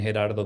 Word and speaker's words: Gerardo: I know that second R in my in Gerardo could be hard to uh for some of us to um to pronounce so fine or Gerardo either way.